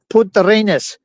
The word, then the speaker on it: Punta Arenas: And we also got that covered with when we left Punta Arenas, I should say it properly, Punta Arenas.